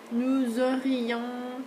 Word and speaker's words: nous aurions: Okay, nous aurions parlé, okay, on prononce le S, vous auriez parlé, ils auraient, this one sounds the same as these guys.